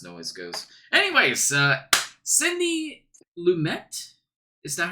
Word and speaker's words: Lumet: Anyways, Sidney Luimet. Is that how you pronounce his last name, Stephen? Before you lecture me 50 times on it? Yes. Sidney Luimet, wee baguette.